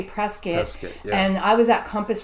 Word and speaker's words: Prescott: prescott phoenix and it's it's spelled prescott but when you get there and you're from new york and you say prescott they say prescott and i was at